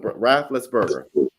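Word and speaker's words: Raffensperger: Can you pronounce his name for me? Rafflesberger.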